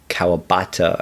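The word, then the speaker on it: Kawabata: cowabata uh and uh cowabata i think is the better way to pronounce it um it sounds like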